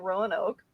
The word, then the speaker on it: Roanoke: Lost Colony of um my Canadian brain wants to pronounce it Ron okay Johnny had to correct me on that a couple weeks ago uh but yeah so the Lost Colony of Rowan Oak um who wants to